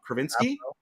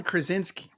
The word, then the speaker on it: Krasinski: the uh John what's pronounce his name wrong kravinsky oh John Krasinski Krasinski now will Emily Blunt